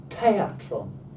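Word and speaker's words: θέατρον: Te. A. Tron. Tron. Teatron. Teatron. And to this day, we pronounce the modern English word theatre, but we spell it with a TH.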